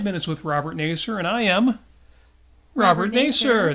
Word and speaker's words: Nasir: It's pronounced Nasir.